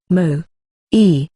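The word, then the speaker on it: 萌え: slash n Mo comma Japanese pronunciation Mo E listen sometimes romanized asmo is a Japanese word that refers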